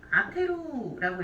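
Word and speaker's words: 充てる: 얘를 이제 훈독으로 읽어주고 싶으면 아테루라고 읽어요.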